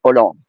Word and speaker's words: Hollande: And so the H is not pronouncing, by the way. You say Holland, but in French you say Hollande.